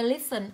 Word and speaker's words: listen: Ý B cô sẽ đọc từ listen, âm thứ hai của cô được đọc là âm ơ, vậy trọng âm rơi vào âm tiết đầu.